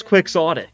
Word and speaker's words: quixotic: on Google right like that's how you're supposed to pronounce quick sotic like who came up